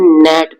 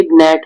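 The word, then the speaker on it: gnat: word G N eighty G N eighty को जब हम पढ़ते हैं तो इसे हम नेट पढ़ते हैं ना कि नेट अगर हम जी को पढ़े तो ये ग्नेट होगा लेकिन जी को पढ़ा ही नहीं जाता है तो ग्नेट नहीं बल्कि ये नेट पढ़ा जाएगा तो यहां पर जी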